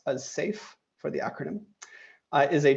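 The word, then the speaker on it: CAIF: Our mission, or rather the Cooperative AI Foundation, which we pronounce as SAFE for the acronym, is a charitable entity whose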